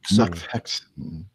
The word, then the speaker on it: Nachthexen: Nachthexen. Hexen as in being hexed. Nachthexen.